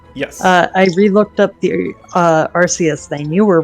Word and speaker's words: Arceus: pronunciation, Cameron, Yes. I re-looked up the Arceus thing. You were right. It is Arceus.